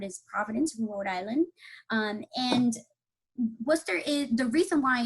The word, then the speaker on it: Worcester: at WPI, when I first saw the word Worcester, it was difficult for me to pronounce it because I thought it was Worcester or Worcester. I had never actually heard someone pronounce Worcester.